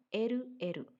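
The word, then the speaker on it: エルエル: Ditulisnya dengan huruf L, L. Nah, dibacanya eru-eru. Eru-eru kyoshitsu. Artinya laboratorium bahasa. Kita ulang. Jimushitsu, ruang tata usaha. Eru-eru kyoshitsu, laboratorium bahasa.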